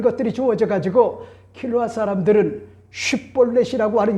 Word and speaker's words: 쉽볼렛: 자연스럽게 할 수가 있지만은 에브라임 지파의 사람들은 쉿볼렛이 아니라 셋볼렛으로 그렇게 뭐잡니까? 묘하게 반응하는 것 같은 그런 모습을 오늘 봤단 말이요. 그래서 오늘 본문에 보세요. 에브라임 사람이 그렇게 바로 말하지 못하고 셋볼렛이라 발음하면 이렇게 이야기를 해주고 있죠.